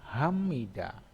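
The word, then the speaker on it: 합니다: Ya, contohnya ini hapnida, hapnida dibacanya hamida.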